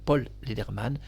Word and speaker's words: Paul Lederman: radio, ni rien du tout, Paul Lederman, je prononce bien son nom, Paul Lederman, va bloquer quelques heures l'annonce de la mort de Thierry Leluron.